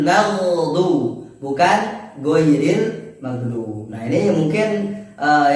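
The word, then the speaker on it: غير: ghairil magdubi alaihim wadin pengucapan huruf g. Nah, ini sering kita temui di kalangan teman-teman, terutama di kalangan masyarakat itu ketika mengucapkan huruf gitu ghairil magdu. Nah, ghairil magdu bukan huruf g tapi ghairil magdu bukan ghairil magdu.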